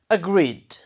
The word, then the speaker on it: agreed: Agreed. Try pronouncing it. Agreed. What sound comes at the end? Final sound? Duh. Okay. So, what you should write it? Okay, you should write it under duh, duh pronunciation.